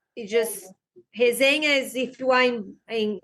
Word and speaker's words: resenha: Is that how you say it, Mika, in Portuguese? Hazena? Yeah, we call like when we do that after jiu-jitsu, you know, like everybody's talking, always something, we call resenha.